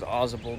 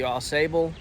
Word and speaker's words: Ausable: at the Ausable Chasm don't say it wrong we've been saying it wrong forever we thought it was Ausable but it's the Ausable I don't know it's